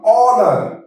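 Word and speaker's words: honour: যাই silent H ওয়ার্ডগুলোতে এইচ আছে কিন্তু এইচ এর উচ্চারণ আমরা করবো না ফাস্টে আসছে কি এইচ ও এন ও ইউ আর অনার অনার এইচ ও এল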